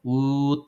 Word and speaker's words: would: Hagan un sonido de U alargado. Would like. Es una U alargada. No hay ninguna G, como por decir good like.